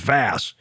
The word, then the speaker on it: Voss: I always pronounce that Hamish Voss. And he said, it's Vass. Hamish Vass.